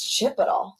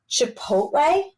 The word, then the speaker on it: Chipotle: a Mexican restaurant and I was like what's chip at all and he literally looked at me like with like I had four heads I was like what Chipotle like how am I supposed to know that